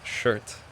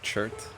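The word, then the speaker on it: Chert: these names was incorrect I thought it was shirt and rebeck but apparently it's chirt and Rybeck and Bel spars har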